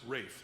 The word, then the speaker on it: Ralph: just no hyphen and his first name looks like Ralph it's pronounced rafe like the actor Ray